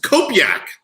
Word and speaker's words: Kopjak: And Andy, I have to say that I've known you for 41 years and you still don't know how to pronounce my last name. Kopjak? It's Kopjak. Kopjak.